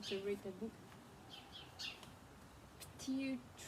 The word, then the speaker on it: pterodactyl: You know that there are some really wacky words that start with a silent letter.